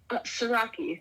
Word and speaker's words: Siraki: Siraki.